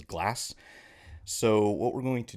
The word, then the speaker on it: Glaz: pronouncing it wrong before it's not GLA it is glass so what we're going